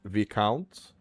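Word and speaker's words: viscount: This one is v count. Oh, v count. So it's not this count. It's the count.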